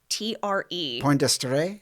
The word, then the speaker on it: Poingdestre: According to seaman, I never know how to say this, Poindexter? I'd say Poindexter. Poindexter? It's Poingdestre. Poindexter? That sounds good. There you go. It sounds French. It does.